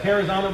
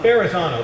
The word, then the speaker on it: Verrazano: Yeah, Terrazano Bridge, is that how you pronounce it? Verrazano, that's it.